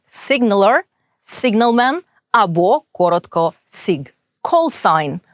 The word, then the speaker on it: callsign: signalman або коротко sig callsign позивний літера G не вимовляється procedure Words або prows